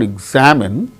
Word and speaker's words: examine: syllable in a word see for instance examine examine examine in the case of the word examine second syllable gain stress in the case of